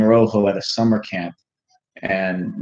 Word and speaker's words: rojo: Oh, it's rojo, R-O-J-O, rojo, the Spanish for red.